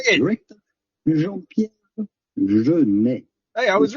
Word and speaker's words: Jean-Pierre Jeunet: Jean-Pierre Jeunet.